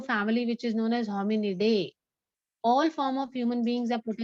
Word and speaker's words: Hominidae: How do you pronounce it? Okay. Hominidae.